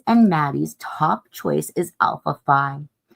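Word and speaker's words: Alpha Phi: Kayle's and Maddie's top choice is alphi or aphi as it's known pronounced aphy.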